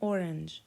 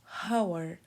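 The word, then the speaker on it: hour: بدات بالفعل ب بكون زي كلمه اور شكلا هي مكتوبه اش بس جيت ابص لقيتني اصلا منطقتش الاتش قلنا اور ما قلناش هاور طيب لما ما نطقنا الاتش بدانا بصوت اور اور بصوت فول تمام ففي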